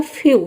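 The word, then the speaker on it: few: जैसे कि देखिए यहाँ पे एफ का हो जाएगा आधा फ और ई डब्ल्यू का हो जाएगा यू, ये हो जाएगा फ्यू।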